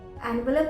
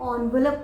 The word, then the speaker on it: envelope: पर जब मैं बड़ी हुई और मैंने डिक्शनरी रीड करना सीखा तो मैंने पढ़ा कि ये एनवेलप नहीं है, इसे हम ऑनवेलप बोलते हैं, ऑनवेलप, ऑनवेलप।